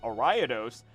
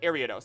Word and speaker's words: Ariados: were very confused as to why I say orados until they re until like they realized or they didn't realize I was talking about Ariados because I was saying orados was really confused about it and said all